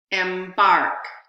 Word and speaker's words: embark: see my hands here you're going to hear two vowels but only the second vowel is going to have stress or is going to be primary stress stress embarq embark so the second vowel had more stress the first vowel in the part of the word m was secondary stress embark embark so the